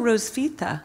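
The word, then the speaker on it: Hrotsvitha: pronounce this Rose Veta Oh Rose Fitte yeah that's easy to pronounce so just ignore the H okay great a medieval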